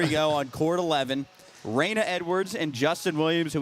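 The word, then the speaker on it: Reina: talked to is it how do you say your first name Raina Raina okay ask if they've ever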